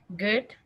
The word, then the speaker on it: good: Good. Exactly. So the D is not like dedo, it's good. So it's kind of like a T, it stops there, good.